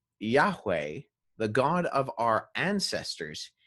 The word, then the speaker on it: Yahweh: the old testament is the word yahweh yave hey and that's how scholars approximate its pronunciation and where this actually